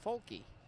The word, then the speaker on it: Folk: now we're being told his name is pronounced folky so folky awaits the